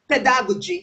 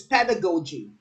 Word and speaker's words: pedagogy: I always hear people pronounce pedagogy. It's pedagogy. Pedagogy.